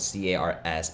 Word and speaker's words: cars: there's car and cars cars is spelled c-a-r-s we don't say cars you say cars with a z and i don't really